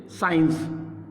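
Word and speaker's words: science: इसमें सी को हम साइलेंट कर देंगे। ठीक है, किस तरीके से करेंगे आप देखिए। साइंस, सीन, scam, scale, scope, इन सब में देख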